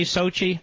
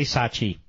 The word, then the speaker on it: Sochi: honey say it Sochi you say Sochi I say Sachi according to two people